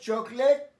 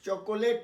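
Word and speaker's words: chocolate: আচ্ছা, তারপরেতে তুমি কি একজন ছাত্র, তারপরে দেখো এখানে আসছে ডু ইউ লাইক চকলেট, উচ্চারণটা লক্ষ্য করো, চকোলেট নয়, বানানটা যদিও এরকম, ডু ইউ লাইক চকলেট,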